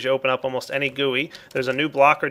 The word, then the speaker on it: GUI: Now, before I get into what they do, I want you guys to know I am pronouncing guey properly. Go look it up, it's actually pronounced guey, not gui.